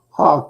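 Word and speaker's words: Houck: Twins Tanner how do you say that is Puck is that how you say his last name name Hawk Tanner Hawk Hawk okay Tanner Hawk against Chris Paddock uh in Minnesota then we have 810 pm.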